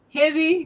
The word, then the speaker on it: heri: Heri literally means You blessings.